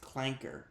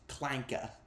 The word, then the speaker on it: clanker: Actually, it's not pronounced clanker. It's pronounced clanka.